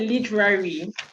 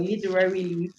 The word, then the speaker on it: literally: also noticed that uh when you are pronouncing a word literally literally literally literally really said literary would i expect it i would have expected from a veteran to hear that word literally pronounced as it should be pronounced um and then i